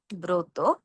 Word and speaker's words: ব্রত: অধ্বনির সঙ্গে রফলা থাকার কারণে আমরা গ্রহ না বলে ও এর মতো উচ্চারণ করব গ্রহ। প্রকাশ না বলে ও এর মতো উচ্চারণ করব প্রকাশ। শ্রম না বলে ও এর মতো উচ্চারণ করব শ্রম। একইভাবে গ্রন্থ, ব্রত, প্রভাত। আবার বলছি, গ্রহ, প্রকাশ, শ্রম, গ্রন্থ, ব্রত, প্রভাত।